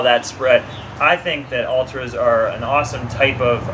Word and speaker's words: Altra: And by the way, Ultra, I'm saying this for people like me. It's spelled Altra because for a long time I was like, what are you saying now?